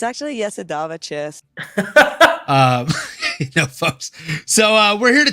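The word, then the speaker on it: Jasudavicius: It's actually Yesadava Chess.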